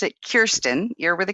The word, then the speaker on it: Kirsten: Well, so first off, I pronounce it Kirsten.